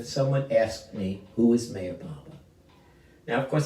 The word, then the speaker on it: Meher Baba: Baba's name could be but I pronounced my hair Baba mayor Baba Meher Baba when I kind of prefer because the age is sort of silent but just breathed into such a beautiful name to those of us